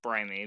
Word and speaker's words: Brime: But the team name is actually pronounced Brimey because it's a combination of our names. But I like to think of it as Team Brime because if you use